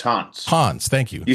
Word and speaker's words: Hans: So it's Hans with a staccato S, not Hans with a Z. So not like a ghost, like a ghost haunts a house. That's how you say it.